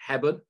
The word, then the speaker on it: Hebburn: So Dunstan, and I'm going to pronounce this wrong, aren't I? Hebburn?